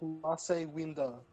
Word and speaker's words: Mace Windu: already, but you know Mace Windu, right? Or his Yeah. or his freaking Kois calls him Mace Windu. No, it's Mace Winda. That's not how you say it, bruh.